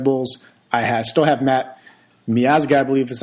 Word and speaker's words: Miazga: Sticking with the Red Bulls, I still have Matt Miazga, I believe is how you say his name.